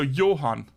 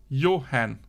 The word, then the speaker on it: Johan: getting confused now so Johan so you pronounce the a like a o like in in English your hand your hand yeah Johan yeah Johan no cash